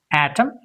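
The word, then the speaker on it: autumn: A u t u mn n is silent pronunciation atom. C o l u mn is silent column h y m n is silent him.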